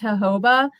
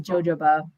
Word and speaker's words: jojoba: say that he knows he knows that it's pronounced jojoba but he just says jojoba i would just call it joe it says